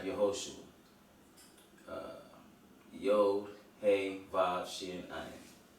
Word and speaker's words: Yehoshua: Moses merely added the Hebrew letter Yod to the name O'Shea. So here you see it's spelled He, Vav, Shin, Ayin. And when he adds the Yod, you have Yehoshua.